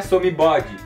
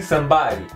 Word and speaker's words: somebody: Ou seja, não é somebody, e sim somebody, somebody.